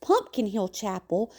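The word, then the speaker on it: Pompion Hill Chapel: Interestingly, Pompeian Hill Chapel, pronounced Pumpkin Hill Chapel, though older than St.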